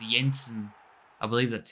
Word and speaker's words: Jensen: on here and it's Yensen I believe that's T pronounced it's either Yensen or Jensen I'm going to say Yensen and he gets him off